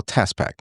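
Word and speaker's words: TASPAK: is what we call TASPAC. Everybody's going to get when you hear spell that it's T A S P A K. Okay, it's not like the Tasmanian devil.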